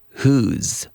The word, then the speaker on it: who's: So who is gets linked together and it's pronounced whose.